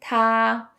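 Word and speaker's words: 他: super easy in Chinese they all share the same pronunciation ta even though the characters are different so for he or him it's ta she or her is also ta and then it unlike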